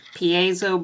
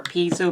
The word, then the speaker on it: piezo: you have this like piezo buzzer or p so buzzer however you want to pronounce it i've heard it both ways seems to be some